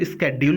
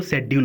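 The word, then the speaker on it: schedule: देखिए कभी कभी इसको स्केड्यूल पढ़ते हैं और कहीं कहीं इसको शेड्यूल पढ़ते हैं, दोनों प्रोनाउंसिएशन सही है, स्केड्यूल या कि फिर शेड्यूल।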